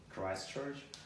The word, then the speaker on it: Christchurch: Would you pronounce it? Christchurch.